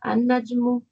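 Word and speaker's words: النجم: Al-Najmu becomes An-Najmu.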